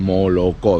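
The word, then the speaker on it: молоко: vez con la palabra moloko que es leche que la mayoría de rusos por un gen mala con o por qué lado cuando esa zona cuando no es tónica pues se pronuncia como a mal la mayoría de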